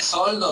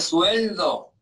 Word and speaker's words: sueldo: No se dice soldo, se dice sueldo, ¿no?